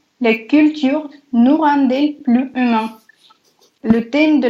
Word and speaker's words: rend-elle: Et nous rend-elle plus humain, pas nous rend-elle. Quand il y a un D à la fin d'un mot qui est juste devant une voyelle, on prononce comme un T.